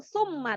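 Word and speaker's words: ثُمَّ: Maka mim bertasdid atau nun bertasdid ketika melafalkannya didengungkan membacanya. Summa, jangan langsung summa tapi summa didengungkan. Summa.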